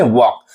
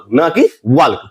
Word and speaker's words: walk: जैसे हम लोग बात करें WALK, इसे हम लोग पढ़ते हैं वॉक, ना कि वाल्क।